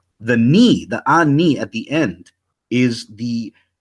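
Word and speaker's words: אני: Those who know Hebrew, standard Hebrew, would say it's pronounced ani, right? And they would say, no, it's pronounced anaya, or the Torah Night cats would say ane or something like that. But the point is that from this ancient transliteration, this 2,000-year-old transcription, it implies that it actually is pronounced ani, because if it was anaya or ane, that would have been reflected in the transcription. It's not anaya, clearly.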